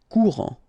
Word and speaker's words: courant: Final T not pronounced. A-N. En. Courant.